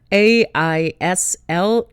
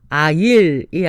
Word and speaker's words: aisle: 여기서 통로는 A-I-S-L-E aisle, aisle, aisle이 아니고 aisle 이 발음입니다.